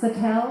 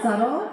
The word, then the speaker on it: Sattel: along with Sattel, which we all learned that that's pronounced Sattel and not subtle.